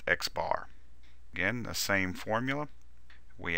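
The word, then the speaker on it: x̄: It is denoted by this symbol, which is pronounced x bar.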